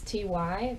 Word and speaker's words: ty: in pronunciation, such as a Y is pronounced like so when you have a word like t, which is you, it's ty, but it's not t, which can be confusing at first because when I see it, I want to pronounce it as t or tie.